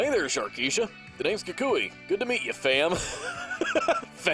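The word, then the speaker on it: Kukui: let him in sharkeisha and yes it is pronounced kikui it's from the anime what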